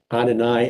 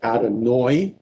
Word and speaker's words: Adonai: opposed to shabbat shalom you will hear people pronounce Adonai as adonoi you will hear people instead of saying bomb